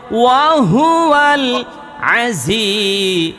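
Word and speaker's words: وهو العزيز: জি জি এর উচ্চারণটা কেমন হইব? ঝিঝি পোকার মতো।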